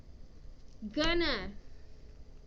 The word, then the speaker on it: gonna: Going to is often pronounced gonna.